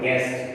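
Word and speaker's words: guest: Silent U, जैसे गाइड है, गाइड, G के बाद U आ रहा है, तो ये U यहाँ पर साइलेंट है, यहाँ G के बाद यहाँ पर U आ रहा है, यानी उसके बाद वॉवल आ रहा है, तो ये यहाँ पर इसकी आवाज़ नहीं है।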